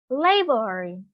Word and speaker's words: laborer: Yeah, it's a noun. Nó là danh từ và nó stress on the first syllable, okay?